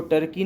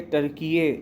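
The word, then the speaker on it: Türkiye: टर्की बहुत ही एक significant एक स्टेप लेने जा रहा है, और टर्की का कहना ये है कि उसको टर्की ना कह के टर्कीये यानी तुर्कीये या टर्कीये कहा जाए।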